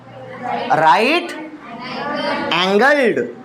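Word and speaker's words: right-angled: इसको बोलते हैं राइट, और आमतौर पे टीचर भी इसको गलत प्रोनाउंसिएट करते हैं, राइट एंगल ट्रायंगल ना, राइट एंगल्ड, जिसमें एक एंगल राइट एंगल हो तो इसको कहा जाए राइट एंगल्ड। राइट एंगल नहीं, राइट एंगल्ड ट्रायंगल।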